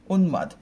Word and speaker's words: উন্মাদ: উন্মাদ, কারণ আমি যদি হসন্ত না দিই তাহলে এটা কি উন্মাদ, দ অ উচ্চারণ চলে আসবে, হ্যাঁ, এখানে একটা অধ্বনি চলে আসবে।